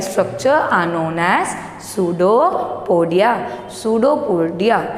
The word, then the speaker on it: pseudopodia: Pseudopodia, its pronunciation is pseudopodia, and P is a silent.